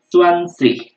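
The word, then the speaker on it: zwanzig: Kalau ini 20 kita bicaranya Swansea ya.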